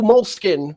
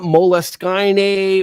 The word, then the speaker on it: Moleskine: stay uh tonight we'll be giving away two moleskin and it is pronounced mole skin I had to look it up it's not moleskinee or a mole skiing like because it looks